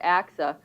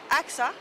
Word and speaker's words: AXA: half ago when i took the job at axa as many of you may know it's a